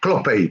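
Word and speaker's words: Hlophe: h l o p he e but you pronounce it kloppe but it's h l o p he e John kloppe and he's a chief he's the chief whip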